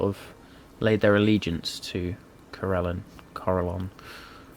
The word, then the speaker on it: Corellon: of all that is the god Corellon, or Corellon, however you want to pronounce it. I say Corellon, who is known as the Archheart, or the Arkheart.